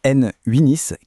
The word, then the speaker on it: n8n: Alors concrètement N Winis qui se prononce N Winis, qu'est-ce que c'est ?